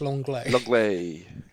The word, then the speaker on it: Lenglet: people messaged and said, how do you say his name? I don't know, but people now tell me it's Longley. Longley.